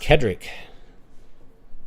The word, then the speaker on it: Cedric: of Cedric the Entertainer it's originally pronounced Kedrick it's Celtic name Kedrick right what about a